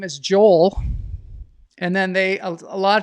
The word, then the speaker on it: Joel: it's Joel and they asked me how I spell it and I say Jo and they said oh that's Joelle and I'm kind of like no it's Joel